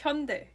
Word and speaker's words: Hyundai: It's Hyundai. Hyundai? Right? Yeah, I was pronouncing it right all along. You maybe made it more of a die, which most people do.